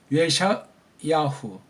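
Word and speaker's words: ישעיהו: 예샤 예샤 이건 원래 슈반 이건 발음이 안 되잖아요. 그렇죠? 어영부영 발음이에요. 이걸 우린 근데 있는 으라는 모음 기호가 모음 음소가 있잖아요. 모음이. 그럼 그 예샤가 아니고 예샤 의의 그 입모양 예샤 야후 예샤 야후 이렇게 하는 게 좀 더 낫다 이거예요.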